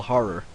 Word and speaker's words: horror: It's basically, it's called Hotel Horror. Gotta make sure I pronounce that word correctly, or you just sound like you're saying whore.